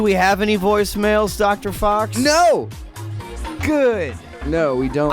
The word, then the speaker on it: faux: short for Reverend and fox F A ux cuz that's how it's said not but it's spelled but it's a different